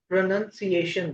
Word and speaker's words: pronunciation: simple it's a no-brainer pronunciation there is no noun in the spelling itself it's nu n when you say